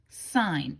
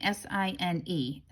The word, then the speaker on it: sine: So sine, S-I-N-E, is abbreviated as S-I-N. All right, even if I see the word S-I-N, I still pronounce it sine.